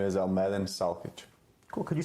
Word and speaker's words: Almedin Salkic: My name is Almedin Salkic. Cool. Could you spell that for us?